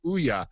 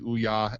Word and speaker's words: Ouya: Ouya. Like the way a Marine would say it.